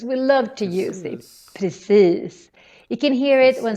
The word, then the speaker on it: precis: But also because of the I in precis.